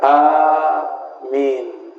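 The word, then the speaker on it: آمين: Dalam ilmu tajwid, jika dua alif ketemu, maka dia dijadikan matnya panjang.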